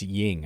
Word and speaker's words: yin: So, he is the the uh the the ying to the Mason Graham yang or yin, whatever. It's ying. All right, it rhymes.